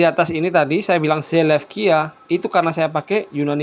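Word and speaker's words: Σελεύκεια: Kalau zaman dulu nyebutnya bukan Seleukia teman-teman, tapi Seleukia. Oke. Jadi ada ini huruf U, upsilon. Upsilon ini zaman dulu ya dibacanya U. Ya. Kemudian ini epsilon iota, kalian perhatikan. Epsilon iota. Epsilon iota ini pada zaman dulu itu dibaca E biasa ya.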